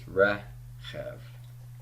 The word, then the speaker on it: reshef: over the vowel so this is reshef and a red accenting the first syllable my final handout for